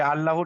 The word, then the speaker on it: আল্লাহ: আল্লাহ শব্দে লাম মুসাদ্দাদের পূর্বে যদি জাবার অথবা পেশ হয় তাহলে আল্লাহর লামকে পুর করে পড়তে পুর হবে, করে অর্থাৎ পড়তে হয়। অর্থাৎ ল উচ্চারণ হবে। ল, ঠিক আছে। লা হবে না, এটা ল হবে।